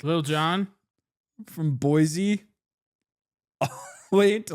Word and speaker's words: Boise: It's actually pronounced Boise.